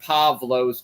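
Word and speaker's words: Παῦλος: the first century ad we're talking a v sound like pavlos with a V uh definitely a v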